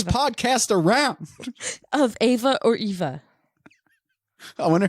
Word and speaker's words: Eva: to speak english but i thought it was ava because it's german wouldn't they they pronounce this it may sound like they're saying that but in an english in an english accent an american accent it's eva do you think this